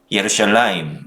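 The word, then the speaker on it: ירושלים: 함께 메시지를 나누고자 합니다 예루살렘 은 히브리어로 예 루시엘 라인 이라고 발음하는 데 이 도시의 이름에는 샬롬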